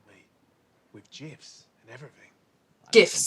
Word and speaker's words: GIF: GIFs. Some folks pronounce it gifts, but I hear you.